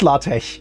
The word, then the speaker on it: LaTeX: No, it's LaTeX. That's actually how the X is pronounced in Greek.